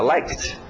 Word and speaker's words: liked: Às vezes é só o som de um t, como like, fica liked.